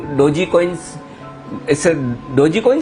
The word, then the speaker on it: Doge: डोगी तो नहीं बोलना ना, उसको डोजी बोलना है ना।